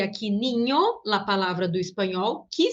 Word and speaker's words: niño: E aqui, ninho, a palavra do espanhol, que significa menino, tá? Ninho significa menino em espanhol. O O se mantém a pronúncia. Então, não muda dependendo da posição que ocupa na palavra.